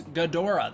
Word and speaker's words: Ghidorah: those of you wondering Toho's preferred pronunciation of the word Ghidorah in English is Ghidorah that's why I say Ghidorah so I don't say Ghidorah because they prefer Ghidorah that is the one that they market him under don't want